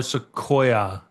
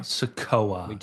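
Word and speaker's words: Sikoa: Solo SOA. Yes, that's not how you say it. Dragon Lee can go in. Do we have a prematch? Sakoa.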